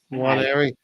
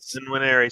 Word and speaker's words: Nwaneri: So either the N is sound or it's not. So still classified as Nwaneri. So it's something like what we explained there. So Nwaneri. Oh, Nwaneri.